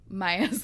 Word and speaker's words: Maya: know what the hell mia was thinking god damn it it's maya isn't it it is spelled incorrectly okay it needs a y all right whatever clary